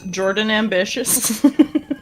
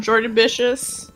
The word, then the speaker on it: Jordanbitious: introduce yourself fully uh my name is Jordan ambitious no say it properly I'm I'm Jordan Bishops uh I do little